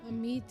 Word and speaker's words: Amit: They call him Amit in the game because that's the British pronunciation, but actually it's Amit.